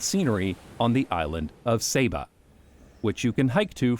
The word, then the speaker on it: Saba: Netherlands, speaking about the island, they call it Saba. But, everyone I spoke to on the island called it Saba, so that's what I'll call it.